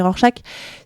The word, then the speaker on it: Rorschach: On a Rorschach, moi je prononce Rorschach, mais vous pouvez prononcer Rorschach.